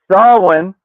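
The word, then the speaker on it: Samhain: They're trying to unleash Sam Hayne, which it's pronounced Sawin on day 70 of learning uh Gaelic on this side. Could have known that one for a while. Um and Sawin is just a season.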